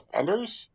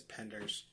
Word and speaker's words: Penders: thought it was uh I thought it was Panders. Not Panders. Uh Panders. Yeah, Panders. Um you're right. I'm saying his name wrong the entire time. But okay. Also, this guy. It is Penders. It is just Penders.